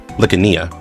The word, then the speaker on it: Lania: back to their ship by Lania. That's actually her name is pronounced.